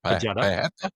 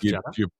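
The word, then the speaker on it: Pejeta: Old Pajeta. Pajeta. Yeah, Old Pajeta. You pronounce the J. It's not like Spanish.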